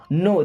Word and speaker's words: know: would I means मैं नो देखिए यहां पे के साइलेंट होता है ना नो how would I नो